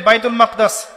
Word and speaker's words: বাইতুল মাকদিস: বাইতুল মাকদাস এটা কোথায় বাইতুল মাকদিস সরি বাইতুল মাকদাস না বাইতুল মাকদিস বিভিন্ন মানুষ বিভিন্ন উচ্চারণ করে এটা হচ্ছে প্যালেস্টাইন কোথায়